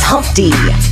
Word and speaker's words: Humpty: My name is Humpty, pronounced with an umpty, and yo, ladies, oh, how I love to Humpty.